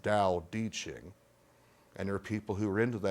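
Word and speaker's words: Tao Te Ching: it looks like t t Ching but it's pronounced da ding and there are people who are into that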